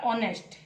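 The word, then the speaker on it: honest: सामने तो एच है, एच के सामने हम ए तो नहीं बिठा सकते हैं क्योंकि ऑनेस्ट, ऑनेस्ट यानी अ उच्चारण हो रहा है, तो इसीलिए हम यहाँ पे क्या बिठाएंगे, एन ऑनेस्ट मैन, एन ऑनेस्ट मैन।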